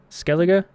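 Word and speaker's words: Skellige: the last one and by the way it's pronounced skele skele skele skela okay I played that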